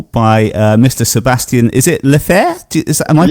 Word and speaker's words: Lefebvre: Is it Lefebvre? Am I pronouncing your surname right there? Lefebvre, yeah, I guess.